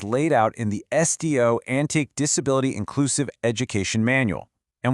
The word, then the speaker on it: Antique: It's the official four-step special education process from the school's division office of Antique, and that's pronounced antique.